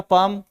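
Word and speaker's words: palm: word बनाना अंग्रेजी का पाम पी ए एल एम तो देखो पाम माने हथेली एल देखो साइलेंट है यहां पे पाम में एल साइलेंट रहता है पलम नहीं बोलते से पाम बोल के चलेंगे तो देखो पाम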